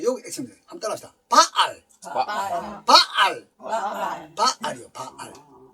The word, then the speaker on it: 바알: 요걸 발음할 때 요거 액션들 한번 따라합시다. 바알이요.